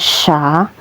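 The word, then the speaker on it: شَ: Kemudian ini huruf syin diharakati fathah. Cara bacanya sya.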